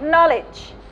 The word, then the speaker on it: knowledge: Knowledge. No, without K. Knowledge. Yeah, without K.